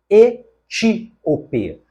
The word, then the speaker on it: etíope: Depois, nós temos etíope. A palavra etíope é paroxítona e por essa razão deveria haver aqui, olha, um acento gráfico na sílaba ti.